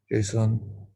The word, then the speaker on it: JSON: python ravi php and java json is usually pronounced like the name json json uses the dot json extension when when it